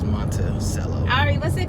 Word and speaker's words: Monticello: headed to monticello monticello i've never heard it pronounced as monte cello ari what's it called i don't know monticello we're going to thomas